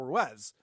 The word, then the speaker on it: Ruiz: do the show with carl ruez and carl ruiz i i pronounced it the way he pronounced it for some reason uh